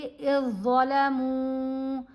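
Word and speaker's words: إذ ظلموا: यहाँ पर ये जो ज़ाल है ना ये खामोश है, हमज़ा को हमने ज़ा से मिलाना है क्योंकि जज़्म और तशदीद इकट्ठी आ गई, तो जज़्म वाला लेटर साइलेंट है। हम पढ़ेंगे इज़्ज़लमू, ज़ा की आवाज़, ज़ाल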